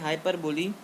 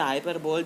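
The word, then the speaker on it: hyperbole: तो आइए, हमारा अगला है हाइपरबोली। इसे हाइपरबोल भी कह सकते हैं, पर हाइपरबोली सही प्रोनाउंसिएशन है।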